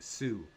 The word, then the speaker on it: Tsu: I guess you just kind of pronounce it Sue.